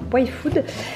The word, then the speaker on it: Y-Food: Je profite de l'heure du repas pour vous présenter ces 4 petites bouteilles que j'ai reçues de la marque Y-Food, donc ça se prononce comme ça, Y-Food.